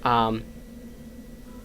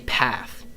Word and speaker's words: Ptah: Ptah. I always want to say path, but I say Ptah.